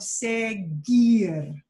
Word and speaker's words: seguir: have the sound of seguir s-e-g-u-i-r the only thing that you does its job in segier is to give the g the hard sound but the u by itself is not pronounced and so that u